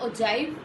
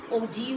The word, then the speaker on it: ogive: अब ये ओजाइव को अलग अलग प्रोनाउंसिएशन बोलते हैं, कुछ लोग इसे ओजीव भी बोलते हैं, सम से ओजाइव, it's like pronunciation only.